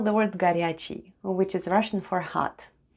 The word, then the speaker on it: горячий: Let's spell the word ГОРЯЧИЙ /garyacheey/, which is Russian for "hot" The first sound is /g/ then goes O (which is unstressed and pronounced as /a/), then we have /r/,